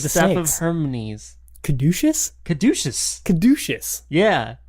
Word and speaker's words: caduceus: I did learn how to pronounce the word caduceus. Caduceus? Yeah. What does caduceus mean? Well, it means catechus, which is how I've been saying it for the past all of my years.